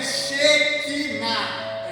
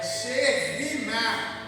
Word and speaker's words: Shekinah: Não é Shekinah, é Shekinah. É diferente a pronúncia.